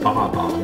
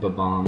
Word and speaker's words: Bob-omb: For the longest time, I thought they were pronounced Bob-omb. I just accentuated the Bob and Bob-omb, Bob-omb. I just said that. Very embarrassing, to say the least. Only recently I found they were called Ba-Bomb.